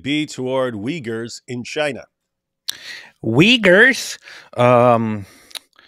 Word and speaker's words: Uyghurs: Uyghurs? It's Uyghurs. Gotta say it properly. I'm gonna say Uyghurs, like every other American.